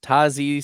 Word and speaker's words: Tyjae: Tyjae Spears. That's right. That's how it's pronounced. Tyjae Spears.